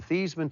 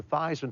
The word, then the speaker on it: Theismann: we think just by changing the pronunciation of your last name from thian to thyman to Ry with he